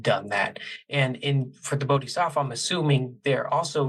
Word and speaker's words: Bodhisattva: Yeah, you but said it right, Bodhisattva, but you got it. Yeah. Yeah, Bodhisattva.